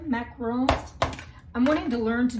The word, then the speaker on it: macarons: I'm wanting to learn to make a pavlova or meringue, cookies even, macarons. I think is how the French pronounce them, macarons.